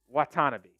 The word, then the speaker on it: Watanabe: up yeah you're right Watanabe thanks for calling me out I knew I was saying it wrong the entire time but uh I just forgot there was a te in there you what tanabe Richardson